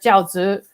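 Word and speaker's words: 饺子: It's like I looked it up, and it sounds like jiaozi.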